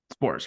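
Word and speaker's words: Sborz: and they didn't really they used uh uh spores how do you say how do you see his last name that evaldi the guy relieved evaldi last night spores right spores SP spores it's a it's a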